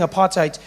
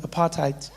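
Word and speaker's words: apartheid: laws because obviously during apartite you couldn't get together. That sounds nice. Doesn't apartite. Notice how we say it like that these days. Apartite sounds like something you got on your shoe.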